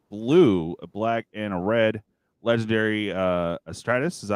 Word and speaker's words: Astartes: So we got Abden, the Despoiler, 2 colorless, a blue, a black, and a red legendary Astratus. Is that how you say it? Warrior? Yeah, Astartes.